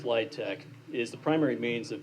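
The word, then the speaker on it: LIHTC: communities thank you the low-income housing tax credit pronounced litech is the primary means of developing in affordable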